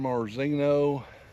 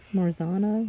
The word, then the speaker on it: Marzano: 12 of them are San Marzino. Is that how you say it? San Marzino? Marzano. Marzano.